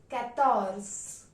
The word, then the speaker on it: quatorze: 14 is pronounced as katorz.